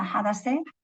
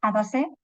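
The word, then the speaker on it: Hadasa: pero a mí mi seudónimo siempre es mi nombre, Adasa, bueno, creo que se pronuncia, es medio persa, Hadase, se pronuncia así. Pero tengo un amigo iraní que me lo explicó. Se pronuncia Hadasé en medo persa y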